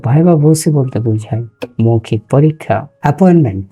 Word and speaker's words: viva voce: ভাইবা ভোসি এর উচ্চারণটা আপনারা জানেন, ভোসি।